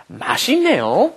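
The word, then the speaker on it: 매진: time when that happens when that comes up against an n a n then you have to pronounce it as another n Mas so let's practice this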